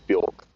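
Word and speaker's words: Björk: Oh, like like Bork the singer. Oh, is there a singer called Bork? Yeah. Also, it rhymes with Orc, doesn't it?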